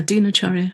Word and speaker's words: Dinacharya: Yeah, Dinacharya.